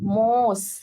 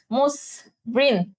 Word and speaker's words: মসৃণ: তাহলে ময় ওকার, মোস, মসৃণ, আচ্ছা মসৃণ, ঠিক আছে, মসৃণ।